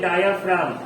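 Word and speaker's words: diaphragm: इसको क्या पढ़ते हैं? डायाफ्राम। जी नहीं बोलते इसमें, जी साइलेंट हो जाता है।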